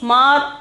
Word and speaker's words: मार: Next, mar. Mar. Okay, the pronunciation is mar. The meaning is kill.